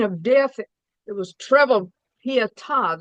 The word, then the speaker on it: Pietà: It was treble pietà. They got the accent on the last name.